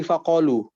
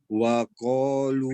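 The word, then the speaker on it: فقالوا: Diulang lagi dari faqalu. wa qalu Fa, bukan wa. Pakai fa.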